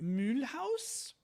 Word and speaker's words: Mulhouse: Cuz the name is spelled in German. It's Mulhouse is the name of the town in French, but it's still spelled in German. And in German English, you would say Mulhouse.